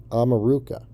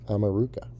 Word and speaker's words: America: america or south america america is actually pronounced ameruca and it means land